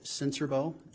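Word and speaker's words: Sincerbeaux: spell your last name my name is senserbo and my last name is spelled s-i-n-c-e-r-b-e-a-u-x sir how are you employed um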